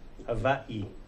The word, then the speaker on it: Hawaii: how they pronounce it w is pronounced v hawaii but hawaii in english